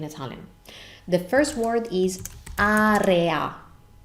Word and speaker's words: area: you can see them in the context of a real Italian sentence let's begin with the first word